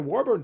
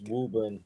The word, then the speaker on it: Woburn: Brutus the Barber's autograph yeah it's it's Woburn uh it's under you can't nobody you can't pronounce Massachusetts uh cities because they're all done in Old English and the old English